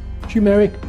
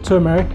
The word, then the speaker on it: turmeric: fork a piece of tumeric or turmeric depending on how you say it ginger some organic green